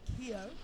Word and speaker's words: Keogh: Coach Keogh commonly mispronounces cough, but she has reassured me it is Keogh.